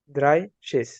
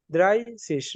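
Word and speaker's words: dreißig: দেখেন thirty thirty কে আমরা এখানে কি লিখছি দ্রাইসিস দ্রাইসিস দ্রাইসিস এখানে কিন্তু এই যে এস সেট হয়ে গেছে দ্রাইসিস আচ্ছা আমরা দেখি এখানে দ্রাই কেন আসছে থার্টি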